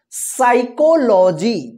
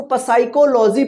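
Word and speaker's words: psychology: यहां पे जो है ना पी जो है साइलेंट रहता है ठीक है ना साइकोलॉजी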